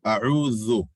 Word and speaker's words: أعوذ: So أعوذ is Hamza, Ain. The three difficulties in أعوذ is Hamza, Ain, distinguishing the Hamza, pronouncing the Ain, and while trying to pronounce the Ain, making sure you don't turn the Hamza into a Ain.